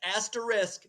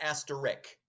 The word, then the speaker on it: asterisk: an asterisk okay and that's asterisk not asterik for those of you